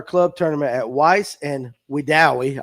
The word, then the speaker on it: Wedowee: tournament at Weiss and Wedowee. I'll say it right one time for Tony Collum. But anyway, they even spelled it out. Weedawee.